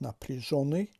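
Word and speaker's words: напряжённый: این علامت زده است و بلندتر تلفظ می شود و حرف ی که بالایش زده ندارد تبدیل می شود به ای، می شود نپریژونی تلفظش.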